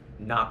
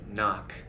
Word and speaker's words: knock: has changed to where now the K is silent and we only pronounce the end like a knight in shining armor or a knife Nach is the same